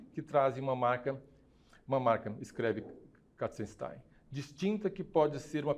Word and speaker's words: Katzenstein: No catálogo é publicado o texto de Inês Katzenstein, é assim que se pronuncia o nome dela, crítica e curadora do